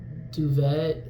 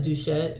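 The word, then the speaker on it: Doucette: Like I was watching Greg Duvet, is that how you say it? Duchette.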